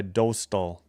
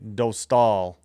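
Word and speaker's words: Dostál: He'll be opposed by Dostal. Sorry, Dostal. I keep saying I said it wrong the whole year and then I heard in the Olympics I was saying it wrong. All right, Dostal in net for Ducks.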